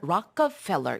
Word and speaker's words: Rockefeller: 우리는 이제 록펠러 재단 이렇게 알고 있지만 Rockefeller 이렇게 발음을 하더라고요.